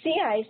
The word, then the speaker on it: CICE: Elizabeth hunky elizabeth is a primer a developer of the at los alamos CS model cice which pronounced as a sea ice which is used in